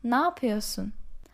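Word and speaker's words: napıyosun: doing for christmas so even though it's written with neopearson we generally pronounce it like na piosun na piosu and they again change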